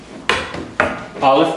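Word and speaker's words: אלף: 3 okay so B Olive means strength bit this is the B Sound by the way Olive has no sound it is a silent letter and we'll get into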